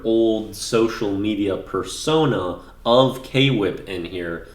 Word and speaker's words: K-Whip: social media persona of K-Whip in here. People mispronounce that as Quip all the time anyway, which is basically how it's pronounced in this, so it works.